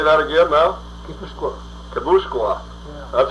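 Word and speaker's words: Guipúzcoa: Well, they're close to Kibuskia, too. I think that's... Yeah, say that again now. Kibuskia. Kabuskwa.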